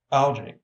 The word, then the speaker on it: algae: Algae. Pronounced algae.